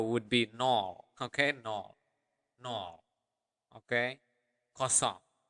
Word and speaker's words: nol: The other way of saying 0 would be nol. Okay. Nol. Nol. Okay. Kosong. You are now maybe curious, in terms of usage, how do you differentiate between kosong and nol?